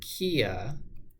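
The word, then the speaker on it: kea: New Zealand parrot whose name sounds like a Korean automaker is a Kia.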